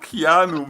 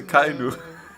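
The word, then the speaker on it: Akainu: you always say Keanu, man. Bro, Yeah. it's not Keanu Reeves, okay? It's a Kainu.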